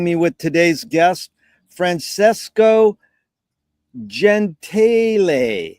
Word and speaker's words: Gentile: Also want to thank Frank Zappa for uniting me with today's guest, Francesco Gentle. How do you pronounce it? Francesco. Gentile.